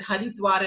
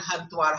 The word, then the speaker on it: Haridwar: here right now, that in local lore, it's also said that Haridwar and Hardwar, how you pronounce it, do you know this? How you pronounce it shows whether you're a Vaishnavite or you're a Shaivite. If you say Hardwar, Har is Shiva. Okay, he removes the remover Har. And Hari is, of course, Vishnu.